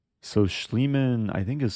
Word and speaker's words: Schliemann: what's it called so schliemann I think is spelled s-c-h-l -i-e-m-a-n-n it's like Neiman like Hans Neiman but replace the N with an schl so Bishop E7 96